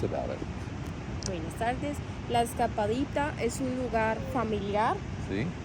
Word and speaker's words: Escapadita: And so we got away today, and we found Escapadilla. Sí. Did I say it right? Escapadita. Escapadita.